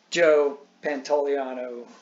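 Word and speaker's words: Joe Pantoliano: that but no so bill burr is not joe pantaliano that's how you pronounce his name that dude they're two but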